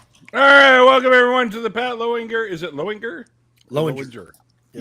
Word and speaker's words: Lowinger: So half the family says, how do you say C-O-W? Well, that's cow. That's the Lowinger side of my family. And then there's the, well, how do you say L-O-W, asshole? It's like low.